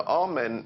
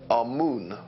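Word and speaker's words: Amun: important deities was amen now amen is the pronunciation that the hebrews give it and some scholars agree to use that pronunciation our moon is the pronunciation given to it by one of the old european scholars plutarch in the language of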